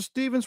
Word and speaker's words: Stevens: Mr. Stevens, well spoken. Pronounced like Steven.